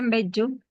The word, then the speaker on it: mbeyú: Mbeyú sería la pronunciación en guaraní.